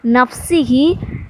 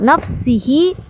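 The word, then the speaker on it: نفسه: ஹல்கிஹி வ ரிலா நஃப்ஸிஹி. வெறும் சீன் தான் சொல்லணும். இந்த இடத்துல நிறைய பேர் ஷீனை வச்சு உச்சரிக்கிறீங்க. சீன் தான் வரும். நஃப்ஸிஹி வ ஜினத்த அருஷிஹி வ மிதாத களிமாத்திஹி.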